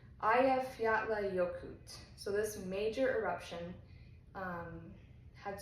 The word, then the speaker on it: Eyjafjallajökull: The name in Icelandic translates directly to Island Mountain Glacier, which that's easy, but then I'll try and pronounce it. It's Eyjafjallajökull.